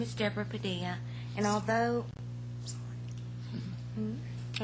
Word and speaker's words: Padilla: homes there thank you Miss Garcia Deborah Deborah Padia 9375 Shepherd Beaumont Texas spam good afternoon mayor city council members my name is Deborah Padilla and although I mispronounced that that's all right